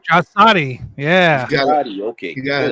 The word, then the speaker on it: Draisaitl: And forgive me if I'm pronouncing his last name wrong. I believe it's Leon Draisaitl. Draisaitl, yeah.